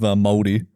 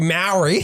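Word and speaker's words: Māori: Unlike you cunts, where I was like, are you Maori? Maori. We got to say all the vowels.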